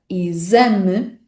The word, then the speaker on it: exame: Então essa pronúncia Z, que encontramos na palavra exame, vamos encontrar também em palavras como exercício, exercitar, exército.